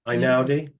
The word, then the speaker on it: Einaudi: His name is Ludovico, and I don't know how to pronounce his second name. Einaudi?